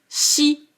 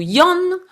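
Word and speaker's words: 四: Mais c'est vrai que 4 peut se prononcer shi ou yon, 7 peut se prononcer nana ou bien shiti, et le 9 peut se prononcer kyu ou bien ke.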